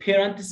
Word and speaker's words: parents: خد بالك الـ A هنا لونج A، parents، لأننا عندنا A ساكن E زي ما أنت شايف، A consonant E هتخليني أنطق الـ A باسمها، بقول A ما أقولش parents زي